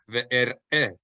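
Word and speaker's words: ואראה: If we see the shva, the two dots on top of each other under a letter, that means the next syllable, it's completely separate vowel sound. Ve'er-eh. We need to hear it separately.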